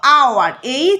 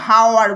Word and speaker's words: hour: শুরু হচ্ছে কনসোনেন্ট দিয়ে, কিন্তু এইচের উচ্চারণটা সাইলেন্ট হয়ে যাচ্ছে। যখন আমরা এটাকে উচ্চারণ করছি বলছি আওয়ার, আমরা কিন্তু হাওয়ার বলছি না, আমরা বলছি আওয়ার।